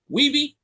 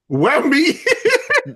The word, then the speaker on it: Wemby: Weeby? Wemby. Wemby, right? Wembanyama. Wemby, right? Sorry, I'm not trying to. I mispronounce for a living.